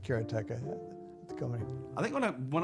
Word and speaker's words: Karateka: say karateka or karateka in Japanese uh there's no stress on any syllable so it would be